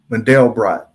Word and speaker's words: Mandelbrot: account died uh uh mandelbrot that's how you say it model brought but nonetheless uh